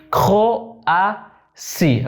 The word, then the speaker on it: Croatie: Croatie. Acuérdense, cuando vemos una T-I se pronuncia sí.